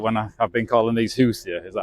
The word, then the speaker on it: Hoosier: am I right when I've been calling these Hoosier is that how you say it oh yeah